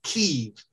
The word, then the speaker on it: Kyiv: the way, with this, it's Ukrainian spelling, K-I-E-V, Kyiv, the Ukrainian pronunciation.